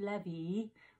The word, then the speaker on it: Levy: is Marcel Detroit AKA Marcy Levy rhymes with Chevy and I heard from